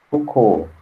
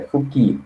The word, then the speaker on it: Fouquet: Letellier, na guerra, Lione, nos assuntos estrangeiros, Foucault, não, Fouquet, aliás, se é francês, é Fouquet, desculpa, Fouquet. Tem que pronunciar o nome correto, né?